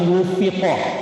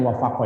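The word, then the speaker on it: وُفِّقَ: Wa in wufiqo, bacanya jangan wafaqo ya.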